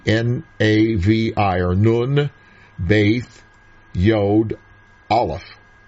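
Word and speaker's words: נביא: is a b but when it does not have the dot in the middle of the B the baith it's pronounced with a V sound it's aspirated so Navi it's a noun Strong's number 50 30.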